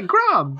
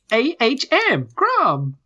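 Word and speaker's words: Grahm: Yeah, Grom. G-R-A-H-M. Grom. Okay. Okay. Like Graham.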